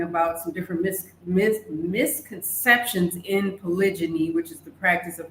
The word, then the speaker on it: polygyny: Therefore, polygamy is the big umbrella term, because under that, there is the word polygyny, like gyny, G-Y-N-Y, meaning multiple, polygyny, if you will, polygyny is how it's pronounced.